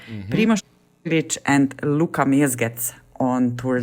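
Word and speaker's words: Primož Roglič: Then we also have Tadej Pogacar, Primož Roglic, and Luka Mezgec on Tour de France this year.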